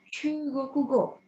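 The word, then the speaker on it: 中国: Itu bahasa Jepangnya Chugokugo. Nah, bagi orang yang belajar bahasa Mandarin pasti tahu ya, ini adalah Zhongguo, nya China. Nah, kanjinya sama persis, cuman cara bacanya sedikit beda. Jadinya Chugoku.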